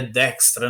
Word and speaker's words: Dijkstra: mas eu vi que a pronúncia a gente fala sobre errado que é dextra na verdade mas enfim né Fica